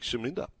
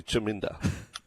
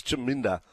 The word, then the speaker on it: Chaminda: I'm backing him to jam it up the critic Shaminda. Paulie from West Wallsend. Chaminda Voss. He says Shaminda. The name is actually Chaminda. Bring in Charlie on that one. Chaminda Voss. Just confirmation. It is Chaminda.